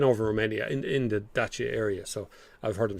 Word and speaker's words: Dacia: be i3 i3s and just small nipticdacia is pronounced dacha that's true that you yes i know over there uh depends on what part of the world you're in but we said dash yeah since it came in here uh it's